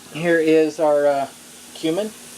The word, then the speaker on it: cumin: here is our uh cumin or cumin I've heard it pronounced that way as well um our ranch